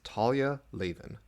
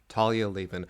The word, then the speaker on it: Talia Lavin: So throughout this episode, I consistently mispronounce the name of this author. Her name is Talia Lavin. Talia Lavin.